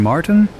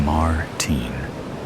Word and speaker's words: Martin: Martin, he pronounces Martin in the American way rather than the way I prefer it. Martin.